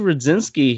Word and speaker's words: Rudzinski: I'm Rudzinski. usually terrible with Polish names. Well, mine looks intimidating, but it does honestly just sound exactly how it's spelled. So, Okay. um, It's that D and Z sound together.